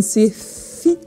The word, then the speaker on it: Secchi: Revenons à nos moutons, revenons à nos astuces et revenons à notre Pauline Secchi qui se prononce Pauline Sefi pour tous les gens qui nous suivent sur Twitch.